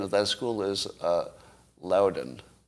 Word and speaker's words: Loudoun: time I'm being I'm being told that the pronunciation of that school is uh Loudoun Louden thank you so uh if you have other